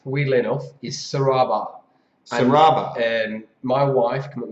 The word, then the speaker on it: Serabar: It's actually pronounced, weirdly enough, is Serabar.